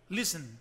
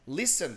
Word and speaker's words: listen: na realidade essa palavra a situação ela primeira sílaba ficar more read more that were burned to listen Listen também sabia que citei não é Listen né